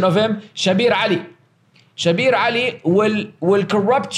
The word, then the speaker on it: Shabir Ally: want to give them the Arabic the Arabic pronunciation of him shabir Ali shabir Ali will will corrupt your Dean 98